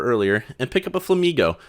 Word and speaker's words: Flamigo: and pick up a Flamigo, which is just Flamingo with a silent N, and then we grab ourselves a Drowsy and a Ghastly.